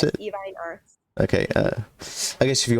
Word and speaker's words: Evine Arts: Is that how you pronounce Yes, it? Evine Arts.